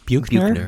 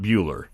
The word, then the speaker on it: Buchner: This concert also features pianist Buchner. Is that how you say your name? Buchner? I think Buchner. Buchner, Yeah. okay. Yeah. But not Bueller. Definitely not Bueller.